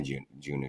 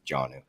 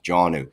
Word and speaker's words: Jonnu: I'll find a Junior Smith. Jonnu. Sorry I mispronounced it the first time. Janu Smith.